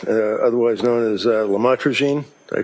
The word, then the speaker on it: lamotrigine: um the Lamictal, uh otherwise known as uh lamotrigine. Did I pronounce that right?